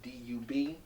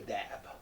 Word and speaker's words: Dub: Is that D-U-B? Mm-hmm. Is it pronounced Dub or Dab? Dub. Dub, okay. Someone told me D-U-B was Dab, but you say Dub, right?